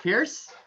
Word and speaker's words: Pearce: And so, yes, my first name is a weapon and my last name is, if it's spelled P-I-E-R-C-E, is what that weapon can do to someone or something, right?